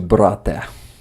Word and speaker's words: брате: What would be the correct way in Ukrainian to pronounce it? Would it be "Дякую тобі, мій брат"? Дякую тобі, мій брате. Брате. Брате.